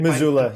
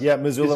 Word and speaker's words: Missoula: And did I pronounce it? Missoula, Missoula, Montana. Yeah? You got it, Robin. Yeah, Missoula.